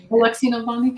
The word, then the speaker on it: Alexei Navalny: Alexei Navalny.